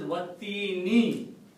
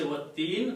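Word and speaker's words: والتين: First letter is waw, and the ayat stands as Wattini. When you stop, you say Watteen, but if you look at it has a kasra in it.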